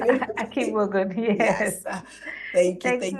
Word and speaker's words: Akigbogun: Am I pronouncing it? Akigbogun, yes.